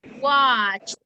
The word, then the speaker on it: watched: Watched. Very good. You add an extra sound.